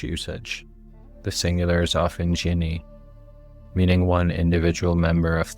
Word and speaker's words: jinn: Let's start with the word itself, Jin. Most English speakers say it like jin.